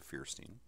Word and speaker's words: Feuerstein: I'm pronouncing that correctly, Joshua Feuerstein.